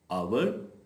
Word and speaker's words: आवर: नहीं हैट hat hand how ever in अ few words as is silent जब एज के बाद vowel ओ आ रहा होगा तो फिर वो एज साइलेंट होगा आवर honest honour honourable honesty